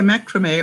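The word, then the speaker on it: macramé: saying she had a macrame omakrami uh it's pronounced two different ways in two different countries um project from the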